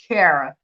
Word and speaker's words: Kera: You say Kera, which a lot of people do call me that, but it's Kera. Kera. Yeah, Era with a K.